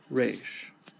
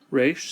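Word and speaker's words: ריש: Resh sounds like the letter R. Now, in traditional pronunciation, it would have a rolled R, like rolled R. But we don't do that. We just do the regular R.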